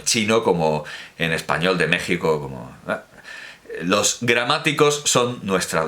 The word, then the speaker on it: México: nosotros también tenemos evidentemente por qué se dice México si se escribe México ese tipo de porque